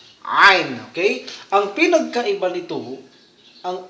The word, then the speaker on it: Ain: Ito naman, nasa lalamunan siya. Nasa lalamunan ito. Katulad ng ha, yung malambot na ha. Ito rin ay nasa lalamunan. Ain. Ain.